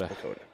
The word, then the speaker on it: PECOTA: this picata or picota how do you pronounce this p p it's picota picota I don't like that I like ricotta cheese that's where my brain went well it is widely accepted as pakota fine makes sense if